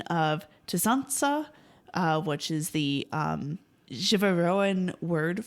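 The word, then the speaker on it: tsantsa: a phone message from Ken saying oh, the Zansa are coming. Now they say Zansa, which is a mispronunciation of Tzansa, which is the Jivaroan word for the shrunken head.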